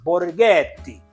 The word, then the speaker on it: Borghetti: So this one, Borghetti, that's how you pronounce it, Borghetti.